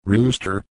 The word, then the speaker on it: Ruster: at the name itself Ruster is pronounced rooster like the bird and the simply means